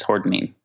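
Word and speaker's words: hordenine: Am I pronouncing that correctly? Yes, hordinine.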